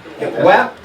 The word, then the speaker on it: WAP: Wap. Okay. WAP. Wow. Wow. There's a pronunciation we have with extra. That's that wop. Yes. Wop. Ah. That's that Cardi B. It's got to be wop.